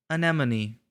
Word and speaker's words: Anemone: anemone anemone all right anemone like Hermione so what's this what